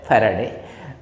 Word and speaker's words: Faraday: Okay, it is pronounced as Faraday.